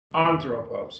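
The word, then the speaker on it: ἄνθρωπος: throw posts we have three syllables on throw posts three syllables and so the accent is on the first one anthropos is how we pronounce it now right here the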